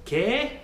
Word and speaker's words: que: So every letter is pronounced. Now, if you see here at the very end, it says que, that's the Spanish word for what.